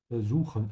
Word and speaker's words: versuchen: Remember that the V is pronounced like a F, yeah? Versuchen, ich versuche.